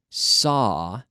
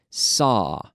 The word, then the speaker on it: saw: I mentioned that the pronunciation is just like saw, as in sierra, para cortar. Saw, S-A-W. We have a silent W.